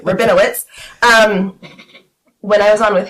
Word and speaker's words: Rabinowitz: Rabinowitz.